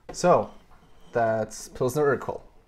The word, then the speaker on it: Urquell: thought this was Pilsner Urquell. Urquell, because that's how you'd probably pronounce it in French. And then you showed up here and taught me right. So, that's Pilsner Urquell.